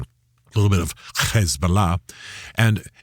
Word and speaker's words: Hezbollah: And you hear me pronouncing a little bit oddly I'm using the Arab pronunciation. A little bit of Hezbollah.